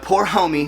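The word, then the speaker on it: Pour Homme: get the Burberry London the poor homey is how you say y'all look out my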